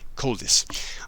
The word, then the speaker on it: Koldis: Cold ice basically. Coldis.